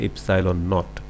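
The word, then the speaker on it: ε₀: এখানে আমরা একটা নতুন একটা চিহ্ন দেখতে পাচ্ছি, এটার উচ্চারণ হচ্ছে ইপসাইলন নট।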